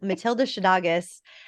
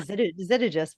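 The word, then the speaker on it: Matilda Szydagis: We just recorded an almost 2-hour interview episode with Matilda Shadagas, who now I'm going to say her name correctly. I was saying Zittigis before, but that's what Google told me.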